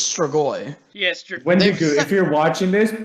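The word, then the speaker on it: Strigoi: he knows his craft he always pronounces this episode wrong and i it's kind of he's like star star i'm like dude it's stragoi yes if you're watching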